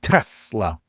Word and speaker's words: Tesla: Everyone complains about how I say it. Tesla. But I say it like a Z.